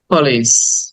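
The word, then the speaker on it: police: next word is পুলিশ পলিস হ্যাঁ ক এটা হচ্ছে এটা আস্তে সঙ্গে সংক্ষিপ্ত আ দেন ই টাকে টেনে বলতে হবে পলিস পলিস ই টাকে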